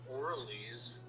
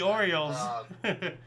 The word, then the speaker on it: Orioles: If you like baseball, uh, Baltimore, uh, Orles, I don't know how to pronounce the Orioles.